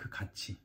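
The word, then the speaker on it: 같이: this is written cut this is pronounced like Kachi because Korean alphabetical to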